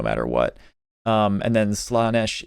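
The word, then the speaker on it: Slaanesh: Um, and then Slanesh is the or I guess people say Slenesh. I've only ever heard it pronounced Slenesh, but it definitely doesn't look like that's how you're supposed to pronounce it, but whatever.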